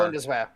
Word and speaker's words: Bundeswehr: I'm mispronouncing that horrifically. But the German army is, they are... Bundeswehr.